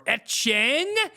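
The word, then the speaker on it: Etienne: We left off talking about Travis ETN or Etcheng as he would should be called but still doesn't want to be called.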